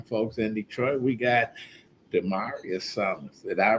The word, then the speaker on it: Damarius: to our young folks in Detroit we got dearius did I pronounce it right yes speak up young man